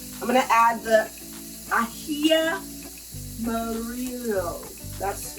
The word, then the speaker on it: ají amarillo: And I'm going to add the ají amarillo.